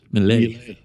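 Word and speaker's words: Milei: Is it a Mile, I'm not sure. Mile? How do you say it? Mile? Mile? Malay.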